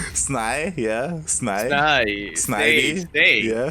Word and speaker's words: Snivy: Snavy. Because it's like Bill Nye. Sny, yeah. Sny. Snivy. Yeah, Snivy. Because it's like Bill Nye. Snay. It's SNYE-VEE. Snivy.